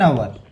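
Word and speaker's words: hour: एन आवर, ठीक है, ए ई आई ओ यू, समझ गए मेरी बात। आवर में एच साइलेंट है, आवर, ध्यान, आपको पता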